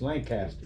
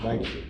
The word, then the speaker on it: Lancaster: New Jersey, it was Lancaster. 46. Yeah, And then when I moved down here, I learned real quickly it's only two syllables, Lancaster.